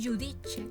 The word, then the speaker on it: giudice: Giacca, que significa chaqueta, giorno, que significa día, y giudice, que significa juez. Bien, recordemos los sonidos: giacca, giorno y giudice.